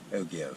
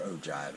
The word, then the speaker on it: ogive: to the to the ogive or ogive as i've heard it can pronounce both ways i call it the ogive first off i have